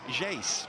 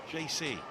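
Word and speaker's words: Geyse: Nikita Paris is coming on, and JC is withdrawn. Apparently, if you're friends with her, you pronounce her name as Jace, but if you're not, JC.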